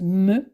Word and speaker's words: M: Et la lettre suivante, qui est le M, se prononce me, comme dans le mot mur.